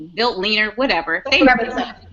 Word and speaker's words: Veltliner: Say that for me again, because I've been mispronouncing this forever. Okay, Betliner. Gruner Vetliner. Veltliner. Okay, thank you. People say built leaner, whatever.